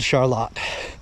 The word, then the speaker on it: Charlotte: It's spelled just like Charlotte, North Carolina, but for whatever reason it's called Charlotte.